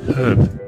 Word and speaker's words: herb: How do you pronounce herb? Herb. Well, here. It's the H you keep dropping.